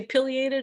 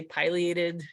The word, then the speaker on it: pileated: Some people say pileated, I say pileated, because when I learned about this bird down south, and that's how they pronounce the name, but also I like pies more than I like pills. So pileated woodpecker is a